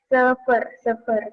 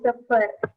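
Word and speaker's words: sıfır: Sefer tuh 0. Bilangnya sefer. Karena I yang nggak ada titiknya itu E. Jadinya sefer.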